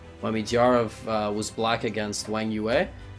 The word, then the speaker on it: Wang Yue: Midyarov was black against Wang Yue, and am I saying that remotely correctly, by the way? I think I'm like... Wang Yue, oh yeah, you're killing it, your pronunciation is 10 out of 10, unlike my English pronunciation.